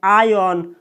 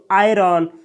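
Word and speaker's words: iron: कपड़े को प्रेस करना कोई कोई स्पीकर दोस्तों कोई कोई इंग्लिश स्पीकर इसमें आर का उच्चारण नहीं करता है यानी इसको कोई कोई व्यक्ति बोलता है आयन और कोई कोई बोलता है दोस्तों आयरन तो आपको जो भी अच्छा लगे आप आयरन बोलिए या आयन बोलिए दोनों सही है आयन यानी या आयरन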